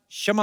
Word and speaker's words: क्षमा: मैं कशमा चाहेगा। कशमा नहीं क्षमा होता है।